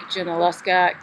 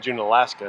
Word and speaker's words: Junaluska: We're in Waynesville, North Carolina, and we are staying at Lake Junaluska Campground. You said it right. Thank you. I keep calling it Junaluska. I know. But it's nowhere near Alaska.